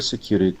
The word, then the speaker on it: security: Security stress on the cure.